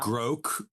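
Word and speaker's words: Grok: Oh, Gro. Gro. I don't maybe I've never heard it pronounced.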